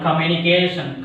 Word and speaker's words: communication: Next one, communication. Communication. Again same. Communication. A word ending with ATION express on which syllable?